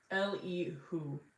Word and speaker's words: Elihu: Elihu pronunciation. Elihu.